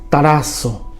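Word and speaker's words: ταράσσω: Fíjense, el verbo que utiliza el evangelista es el verbo griego que se pronuncia así, tarazo, ¿no?, que significa justamente turbar.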